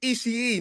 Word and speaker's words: Ishii: But logic states it's He's not gonna Ishii's win. house. Yeah. Yep. Adam Cole, say it right. Ishii, not Ishii. Unless that's a nickname.